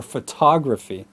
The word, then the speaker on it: photography: Now, watch the word stress between photograph versus photographer or photography. Make a game out of it. Photograph, photographer, photography. Say it slowly and then build up the speed.